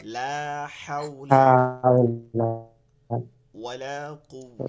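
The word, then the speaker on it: لا حول: এটা কি মনে আছে হাউ উচ্চারণটা হবে অলকের মাঝখান থেকে হলোকে হা জিমের পরে হা লম্বা হা যেটা আছে লা হাওলা হাওলা ওয়ালা কুয়া লা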